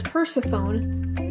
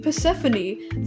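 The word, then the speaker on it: Persephone: Um, but she says Perseone, which is how I thought it was said. Um, but then Mr. Raturn's like, "Oh, you mean Pesphanie, the Greek goddess of the spring?" And I was like, "That's how you say it?"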